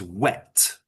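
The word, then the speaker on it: whet: Now that's not wet like wet as in, you know, wet from water. It's it's it's wet with an H, meaning to sharpen something.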